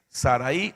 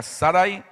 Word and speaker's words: Sarai: ¿Es Sarai o Sarai? No, es Sarai. Porque si fuera Sarai de llevar acento en la I.